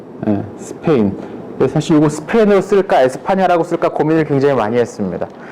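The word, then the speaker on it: España: 사실 이거 스페인으로 쓸까 에스파냐라고 쓸까 고민을 굉장히 많이 했습니다. 현지 발음을 따르자면 에스파냐라고 해야 될 것 같은데 스페인이 워낙에 우리 입에 붙다 보니까 아무튼 그렇게 했어요.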